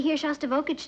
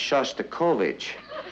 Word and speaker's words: Shostakovich: he's taking me to here shage tonight honey I think that's pronounced Shostakovich we'd like to meet